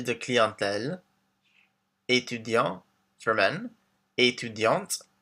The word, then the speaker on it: étudiante: So we have professeur, informaticien for men, informaticienne for women, chargé de clientèle, étudiant for men, étudiante for women, with the T pronounced at the end, artiste, artist, directeur for